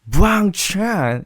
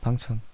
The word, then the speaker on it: Bang Chan: You kind of have to talk as if you're kind of nonchalant. Instead of bang chan, it's like bang chan, bang chan. Just say it like you don't care.